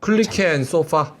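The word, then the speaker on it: Kulicke & Soffa: 클리케 앤 소파. 아, 그래. 그 발음이 헷갈렸어.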